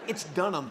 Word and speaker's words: Dunham: mispronounced my last name I know Dunham not when you look at it it says don't have just done ham I think we've seen